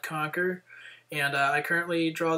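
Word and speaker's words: Qnqr: find it on uh conquer uh web portal except conquer is spelled Q nqr so it's it's kind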